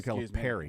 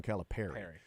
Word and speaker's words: Calipari: it right exactly Perry John Cal Perry my bad John calip Perry John calip Perry okay here's how you remember